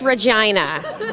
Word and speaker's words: Regina: Regina, not Regina. No, it's pronounced Regina. She's very adamant about that, so yes, yeah. Is there a reason for the pronunciation? Does that kind of lean into the character, or? Sneaky little thing is that she's German as well. She has a German background, so that's partially why